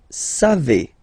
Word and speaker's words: savez: Then vous savez. classic ending for vous, EZ, but then phonetically it's et, vous savez, savez.